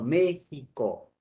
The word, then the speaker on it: México: al sonido también para representar el sonido de la jota o se hacen a como como jota no por ejemplo méxico se escribe con ministros